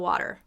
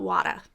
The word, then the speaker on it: water: of a lot of water but not wada that'd be a regional accent so we still want